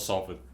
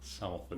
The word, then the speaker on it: Salford: It's from Salford, by the way. Not Salford. Salford. Where's Salford? Salford is Salford. Ah. Just people pronounce it incorrectly.